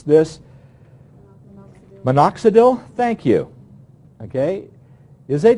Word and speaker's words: Minoxidil: And I'm not sure how to pronounce this. Minoxidil, thank you.